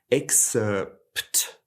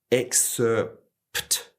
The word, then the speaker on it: excerpt: And so in some ways the P is silent, but in other ways the lips coming together like a P sound will actually change how this word sounds from if there was no P at all.